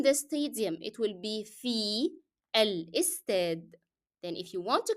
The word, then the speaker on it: في الاستاد: في الاستاد, you will be dropping the sound of ألف in L because Fi is carrying or is ending in a long vowel E, so alif cannot be pronounced in al instead.